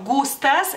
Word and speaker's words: Gustas: en esta forma gustas el lituano sería gustas Gustas o sea más corta la la u pero la siento cae sobre la u y en lituano en